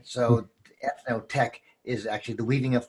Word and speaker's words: Eth-Noh-Tec: If we divide up those syllables, eth as in ethnic, or the cultural distinction, or ethos, the universal elements of art, and then the middle syllable, no, N-O-H, is a Japanese word for possibility, and tech originated from